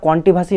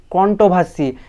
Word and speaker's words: কন্ট্রোভার্সি: ভিডিওটা ভালো করে শোন ওটা কন্টিভার্সি নয় ওটা হলো কন্ট্রোভার্সি আগে ঠিকঠাক উচ্চারণ করাটা শিখ তারপর সোশ্যাল মিডিয়ায় এসে